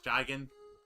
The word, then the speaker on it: Jigen: I believe you, I don't know how you pronounce his name, but I want to say it's Jigen. Correct.